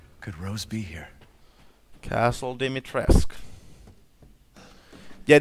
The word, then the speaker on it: Dimitrescu: Castle Dimitrescu. Yeah, that's how you pronounce her name, by the way. It's Dimitrescu. Or Dimitrescu. You know, something like that. I'm pretty close, though.